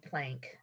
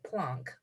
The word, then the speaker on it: Planck: of energy plunk and i've never heard him called plank max plonk and i don't want to argue with professor dave but i'm going to pronounce it plonk uh max plunk he